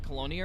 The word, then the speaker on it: Colonia: tritium for 2k but isn't it in like colonia or something it's like 30 000 light years